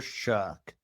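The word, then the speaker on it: Shough: Chuck. It rhymes with buck and cuck and truck and a word that you've used quite a bit.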